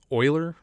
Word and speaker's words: Euler: is a slightly more useful formula which is euler's formula so euler's formula because it's named after this funny looking guy oiler by the way this is pronounced euler not